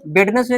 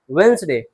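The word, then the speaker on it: Wednesday: वेडनेसडे में वेडनेसडे नहीं होता है, वेनसडे होता है, वेंसडे होता है, क्या होता है, वेंसडे।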